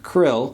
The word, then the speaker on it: Kirill: As though by divine providence, the recent Latin American tour by His Holiness Patriarch Kirill (pronounced Krill) of the Russian Orthodox Church just happened to overlap with the pope's visit to Mexico.